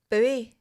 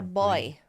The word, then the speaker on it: buoy: Or is that American say O Y? Americans say buoy, don't they? It's a boy. Buy.